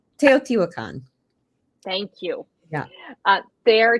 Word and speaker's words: Teotihuacan: How do you pronounce that? It's Teotihuacan.